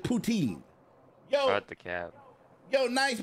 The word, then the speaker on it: poutine: know this dude but he just saying it's poutine that's what they told me it's you have to pronounce it poutine yo the cap yo